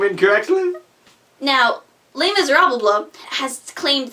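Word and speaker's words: Les Misérables: Do you hear the people pronounce that name incorrectly? Now, Les Miserables has claimed 3 Tony nominations this year, including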